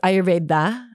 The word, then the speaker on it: Ayurveda: she's been studying ayurveda i don't think i'm saying it right because she says it i know she says it right she says ayurveda like pushes the deer a little bit so i'll try and